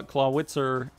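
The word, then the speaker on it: Clawitzer: that's how if claw claw wit sir as most Americans probably pronounce it if it were pronounced in Germany would be clouded sir the W makes a B sound just so you know but he's out in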